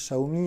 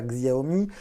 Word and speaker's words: Xiaomi: Maintenant, ça y est, les vendeurs partout chez Wick, chez SFR, chez Orange, ils ont compris que ça se prononce Xiaomi et non pas Xiaomi.